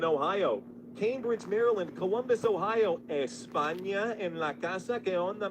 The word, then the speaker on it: España: España en la casa. ¿Qué onda, mi gente de España? Or I should say España, right? That's kind of how they say it.